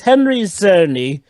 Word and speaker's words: Henry Czerny: It's Henry Czerny. Basically, Oh, so the C is silent.